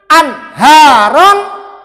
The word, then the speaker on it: Anharon: perhatikan, nun sukun Anharon. Cara bacanya adalah ditekan cepat, ditekan dan cepat. Jangan biarkan berlama-lama di an. Tekan cepat. Anharon, ada tekanannya.